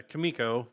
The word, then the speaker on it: Kimiko: Yeah, Kimiko.